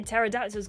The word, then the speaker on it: pterodactyls: um why can't you hear pterodactyls go to the bathroom because the p is silent sponsored by tear song